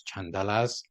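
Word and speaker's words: caṇḍāla: referred to as outcasts known in p as chandelas or in Sans it with the same pronunciation but spelled with a CH instead of a c later they became known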